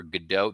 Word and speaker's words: Godot: Got to see Waiting for Godot. They pronounce it Gatto for some reason in this performance, which is odd.